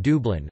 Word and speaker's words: Dubhlinn: As of 2018, Dublin was listed by the Globalization and World Cities